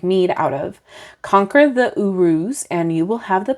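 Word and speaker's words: Uruz: correct way all right Urus is how you pronounce it Urus thank you for that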